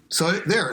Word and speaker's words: Cthulhu: I just like to, any Lovecraft, like, weird, evil name, I always like to pronounce it like I have a date stuck in my throat. You know? Cthulhu.